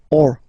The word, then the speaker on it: eau: this a, u, combination of vowels, like for instance une, o. So remember, when you get these vowels like that, then you get only the sound o.